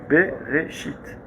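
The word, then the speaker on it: בראשית: Bereshit. Il est où le Aleph? Tu le dis pas. Le Yud, Shit, Bereshit. Le Yud, je l'ai pas dit.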